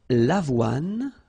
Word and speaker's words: l'avoine: L'avoine, le blé, le maïs, le millet. So let's repeat them. L'avoine, remember, don't insist on the final E.